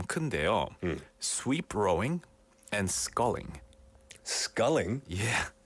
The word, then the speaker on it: sculling: Sweep rowing and sculling. Sculling. Yeah. Like But 그게 뭘? 이게 이 스컬링이 아니에요. 이 스컬은 K로 하잖아요. Yeah. 근데 이거는 SCULLING. 발음은 똑같고. 발음은 비슷해요.